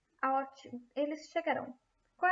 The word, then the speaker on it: chegarão: Negarão, chegarão, falarão.